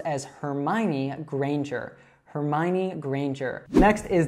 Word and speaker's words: Hermione: But now we tend to accept the way that it was pronounced in the movies. So this is pronounced as Hermione Granger.